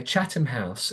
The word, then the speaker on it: Chatham House: So, And what, because so it sounds like Chatham it's House, yeah, Chatham House. It's spelled Chatham.